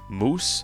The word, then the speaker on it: muOS: of my videos that it's pronounced moose, so I guess thanks